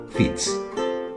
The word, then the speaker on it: Fitz: palabra francesa fish y la pronunciación normal para ese nombre es fitz aunque después es el